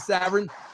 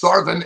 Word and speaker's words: Sarvin: Savin? I didn't, and it's Sarvin, and quit mispronouncing.